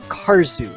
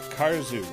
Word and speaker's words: Karzeł: royal-blue wizard mentioned in chat the game is pronounced cars ooh the L is the low line through it is like a W okay cars ooh and cars ooh in Polish means dwarf it means war indeed